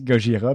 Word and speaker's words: Gojira: me semble qu'il ont choisi gogira parce que c'est la prononciation plus japonaise de godilla ah goda goda sais